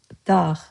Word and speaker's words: dağ: It's just one syllable. DAÐ. DAÐ means mountain, mount, or highland.